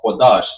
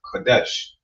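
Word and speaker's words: קדש: That's how you know it's Qadash and not Kadesh.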